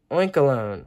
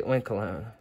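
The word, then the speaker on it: Oinkologne: and blink oink hmm oink alone oink alone it's like cologne that's how it's spelled so I'm gonna say oink alone the little white spots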